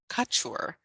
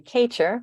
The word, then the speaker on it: Kachur: sage webinar presented by Amy Carpenter and Mandy Couture Mandy if I'm pronouncing your last name wrong I apologize uh